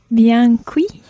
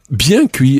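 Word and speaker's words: bien cuit: cooked or well done and something like say biancui yeah biancui is the phrase for well done as opposed to apoe meaning medium or senior meaning rare so biancui means well done literally well cooked so the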